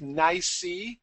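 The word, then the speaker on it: NYSE: what the acronym stands for you've heard of NY that's the way it's usually pronounced and it stands for the New York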